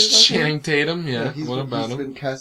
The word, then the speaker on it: Channing Tatum: So, Channing Tatum? Is that how you say it? Channing Tatum, yeah.